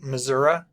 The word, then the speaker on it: Missouri: Missouri yes and I have heard it it's pronounced misery like misery Missouri and I have heard people pronounce it Missoura apparently it is illegal to mispronounce the name